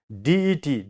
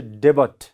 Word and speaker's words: debt: Now, DET, DEBT, we have to pronounce as det. See, this B sound is silent. So, you should not say debut.